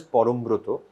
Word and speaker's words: Parambrata: to explain to them so in Bengali it is pronounced as Forum Bruto but um so the